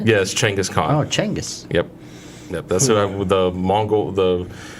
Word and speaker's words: Chinggis Khaan: really yeah but that's how you say yes Chinggis Khaan changose yep the Mongol the man who united